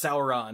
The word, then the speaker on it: Sauron: Because, you know, the way that Tolkien pronounced SAU was Sau. That's why it's Sauron, not Sauron.